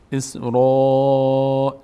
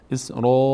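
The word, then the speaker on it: إسرائيل: بیشتر از حد متوسط را یکی از اون هشت حرفیه که پر خونده میشه وقتی روش الف باشه اسرا نمیگیم اسر نه این اشتباست اسرائیل لا تعبدون الا الا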